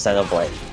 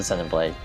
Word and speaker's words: Xenoblade: call Zen blade or Xeno Blade but um lot of Americans say Xenoblade but the Japanese pronunciation is Zeno blade just straight up Zeno blade um let's keep up